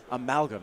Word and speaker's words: amalgam: uh ammo games sitting is that how you pronounce that word amalgam thank you todd like an amalgamation of correct